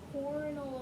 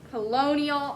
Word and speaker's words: colonial: and write funnier stories than practically anyone in cornell america there's no r try again but there's no r try one more time polynomial colonial close but colonial colonial america that means america during the time of